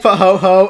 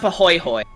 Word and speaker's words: Pahoehoe: Okay, that looks like Pahoho. Pahoho, and in a game like this, it looks like Pahoho, but it's pronounced Pahoihoi.